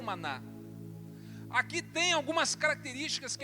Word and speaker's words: maná: E o que é isso em hebraico tem esta pronúncia, maná.